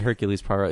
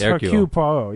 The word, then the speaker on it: Hercule Poirot: Hercule Poirot. Hercule. I thought we said Hercules Poirot. It was like a joke, but that's really his name. No, no, his name is Hercule Poirot.